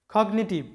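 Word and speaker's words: cognitive: তো এই কগনিটিভ শব্দে যেহেতু জি এবং এন আলাদা আলাদা আছে, যদিও এন এর আগে জি আছে কিন্তু আলাদা আলাদা সিলেবলের মধ্যে আছে, তাই জি এর উচ্চারণটা হবে কগনিটিভ।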